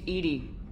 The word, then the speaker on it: EDI: airlock is a jar why are you named Edie the phonetic pronunciation of EDI that is an acronym for